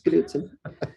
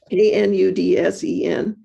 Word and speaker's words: Knudsen: We do pronounce the K. Not everybody who's a Knudsen does. It's a Scandinavian like Smith, but it's Knudsen. Knudsen.